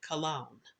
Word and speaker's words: Colon: I've pronounced this girl's name Evelyn Colon. Now, in some other podcasts and such that I've listened to try to gather more information about her, I've heard her name pronounced Evelyn Colon. I've heard her name pronounced Evelyn Cologne, and her family, in one video that I watched, they pronounce it Cologne. It's C-O-L-O-N.